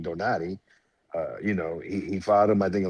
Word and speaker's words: Donaire: I mean, Nonito Donaire, like, you got to remember, or the correct pronunciation, Donati.